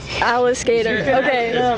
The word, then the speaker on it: Alliskater: it right Alis skater it's like alligator but Alis skater Alis skater you can ask them